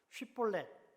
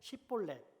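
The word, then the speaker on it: 쉽볼렛: 쉿볼렛 발음을 하라고 시켜서 이를 제대로 못하고 시볼렛 하고 발음한 사람을 추려냈습니다.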